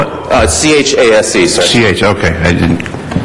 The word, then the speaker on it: Chase: Colais. Is there a Colais? That's you. Your last name, sir? How do you spell it? C-H-A-S-E, sir.